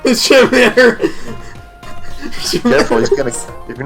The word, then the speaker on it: scimitar: Have I ever told you about how I pronounce that curved sword that starts with an SC? Oh, you mean scimitar? Yeah, I call them Schmitters. Scimitar.